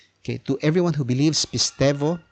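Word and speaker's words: pisteuō: Now, sometimes they call it pisteo, but this is Kine-Greek. In some pronunciations, the upsilon becomes V or F. Okay, so when it is preceded by alpha, epsilon, or eta.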